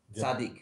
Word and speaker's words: Tzaddik: Tzaddik.